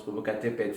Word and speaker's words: Popocatépetl: coup, c'est pas un tel, c'est genre en espagnol ce serait un tel, mais particulièrement ça se prononce Popocatépetl.